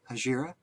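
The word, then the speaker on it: Hejira: I think Hajira, I believe is the way it's pronounced, and played that and said, great, shelved it, kept coming back to Court and Spark.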